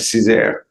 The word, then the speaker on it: Cesar: Is it Cesar? That's right, Cesar.